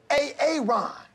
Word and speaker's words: Aaron: I said it like 4 times, so why didn't you say it the first time I said A-A-Ron? Because it's pronounced Aaron?